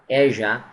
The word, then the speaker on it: Asia: فوټبال مشهور دی په اروپا کې، ایشیا به نه وایي، اسیا به هم نه وایي، په انګلیسي کې د دې صحیح تلفظ څنګه دی؟ Asia.